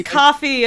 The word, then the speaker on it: Kofi: cream coffee damn it I keep mistaking it for the it's because it's because it's it's spelled similarly to like the cof it is so I keep thinking cofi when it's coffee and it's like no like the drink not the the payment service coffee coffeee had superpowers